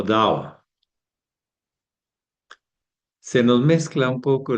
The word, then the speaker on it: Tao: Bueno, el tao está dicho en chino, pero en realidad inclusive no se dice tao en chino, se dice dao.